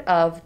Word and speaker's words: of: the word of because when we pronounce the word of the f sounds like a v so our brain skips